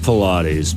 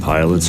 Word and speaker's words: Pilates: It's pronounced Pilates, but I always called it pilots or whatever.